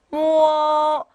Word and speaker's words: 末: 알파벳 O가 혼자 있다면 이때는 우어로 발음을 하기로 약속을 했어요. 그쵸? 자, 앞에 자음에 해당되는 M이 붙어 있습니다 하면 무어 네, 이렇게 읽어주셔야겠죠.